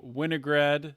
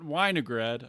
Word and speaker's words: Winograd: of liberty pride members winograd not weinegrad i mispronounced that the first time i ever tried but uh if you've listened